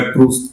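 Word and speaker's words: Proust: संभवतः martial प्रूस्ट ने, उनका उच्चारण प्रू भी है, प्रू है, लेकिन मैं प्रूस्ट कह रहा हूं जानबूझ के।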